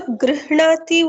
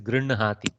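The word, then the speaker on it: गृह्णाति: I would not want to call it as incorrect, but let me say the most Rudi Prayoga pronunciation is Grinhati.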